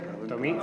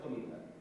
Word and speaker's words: tomiza: Tomita. No, es que Tomiza con Z, ¿no? Tomiza. Con TZ. Tomiza.